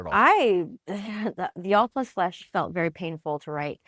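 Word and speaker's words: The All + Flesh: Do you pronounce it the all plus flesh or all end flesh? I let people do what they want. It is supposed to be the all plus flesh because it's the etmology of the word pancreas pen and crius.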